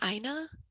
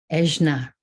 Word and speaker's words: Ajna: Is your name pronounced Aina? Ejna. Ajna, thank you so much.